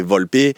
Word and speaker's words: Volpe: Moi, mon nom c'est Volpe, mais si tu le dis en italien, c'est Volpé. Euh enfin, tu vois. Donc, c'est Volpe ou Volpé.